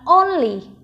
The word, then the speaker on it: only: Trọng âm rơi vào âm đầu tiên, mình sẽ có là only, only.